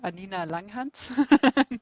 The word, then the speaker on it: Anina Langhans: about me on on LinkedIn LinkedIn obviously so anina Langan that's how it pronounce yeah and about lip of course on